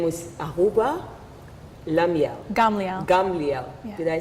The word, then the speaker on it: Gamliel: Gamliel. Yeah. Did I say it right Yes, this time? yes. It's not easy for me to say Gamliel.